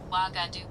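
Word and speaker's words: Ouagadougou: Waga Doo. Well, I got the last bit right. It's Wagger. It's Wagger. So, Waga Doo. I Well, I got the last part right. I said Waga Doo, but whatever.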